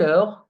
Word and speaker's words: heure: Remember that EU in French is pronounced E. E, heure. Okay? So, à quelle heure commence la réunion?